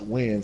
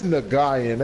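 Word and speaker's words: Nguyen: It was like, it's pronounced Win, so I'm like, okay. I'm like, nigga, that's Nagayan.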